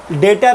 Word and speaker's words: debtor: तो स्टार्ट करते हैं 1.7.3 से, डेटर एंड क्रेडिटर। अब लिखा हुआ डेप्टर है लेकिन बोलते डेटर है, बी साइलेंट होता है, याद रखना प्रोनाउंसिएशन।